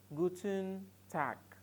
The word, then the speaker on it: guten Tag: it is guten tag guten tag take note of my pronunciation I am the pronouncing tag I am pronouncing tack guten tag so when